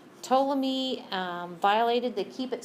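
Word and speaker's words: Ptolemy: locations um toy remember the p is silent toam me um violated the keep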